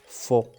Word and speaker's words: faux: يعني هنا كذلك عندنا x على fin لكن ما تنطقوهاش faux.